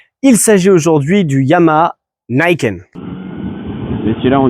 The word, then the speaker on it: Niken: que j'ai entendu niken, j'ai entendu niken nikun ni apparemment ça se dit niken et ça vient du coup du mot japonais qu'on peut globalement du coup découper en deux.